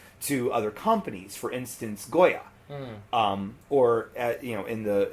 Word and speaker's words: Goya: other companies for instance Goya um or you know in the in the more uh appropriate Puerto Rican pronunciation goja um and being from Vineland you hear both yes um because of our